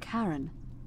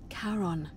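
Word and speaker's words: Charon: it's just as you described it only your pronunciation is a little off the name you heard wasn't karen it was c-h-a-r-o-n as in caron the ferryman of the dead karon who in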